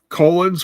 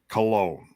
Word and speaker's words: Colón: Colóns. Did I say it wrong again? He keeps calling them Colóns. That is accidental, believe it or not. I know. Knowing me, no, that's not how they say it. No, it is, really. Cologne. Spritz. It's cologne. Yeah.